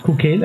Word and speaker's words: Chuchel: It's pronounced Kukel, as I mentioned already.